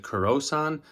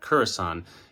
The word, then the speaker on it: Kurasan: In the video, I pronounced it Kurosan, which is wrong, so I want to correct that. Kurasan. His full name is Kazuo Kurahashi, so it's Kurasan.